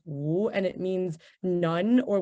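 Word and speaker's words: 无: And then this character is pronounced wu, and it means none or without.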